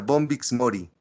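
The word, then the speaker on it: Bombyx mori: El bombix así como se escucha como se pronuncia bombix Mori se le puso ese nombre Porque el gusano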